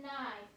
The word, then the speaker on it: knife: in knot, knit, and knife. And if it's spelled with a KN, as in knot, knit, and knife, that K doesn't make a sound. It's a silent K, okay?